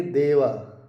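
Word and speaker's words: では: वैसे ही आप देखेंगे देवा देवा आरभाषन में देवा जो है दो शब्द से दो लेटर से बना है। दे प्लस हा लेकिन यहां पे व प्रोनाउंस करते हैं देवा।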